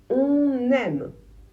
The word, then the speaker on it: on aime: Attention, si le verbe suivant commence par une voyelle ou par un H, il va falloir prononcer le N pour faire la liaison.